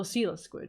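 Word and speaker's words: coelacanth: Oh, Seala squid is how you pronounce it. It's an ancient fish.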